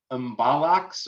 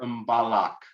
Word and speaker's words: mbalax: No, this is either Mbalax or Mbalak. Bollocks. Okay. It is an imbalance. Oh. I'll put it in the chat in case anyone is curious. Either of these are acceptable.